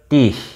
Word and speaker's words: dich: Jadi liebe, dich, CH-nya dibaca H.